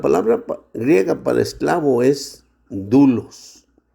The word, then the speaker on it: doulos: O sea, la palabra griega para esclavo es dulos. Dulos se escribe doulos.